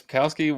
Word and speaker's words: Sapkowski: Is it Sapkowski? Yes, Sapkowski, whatever.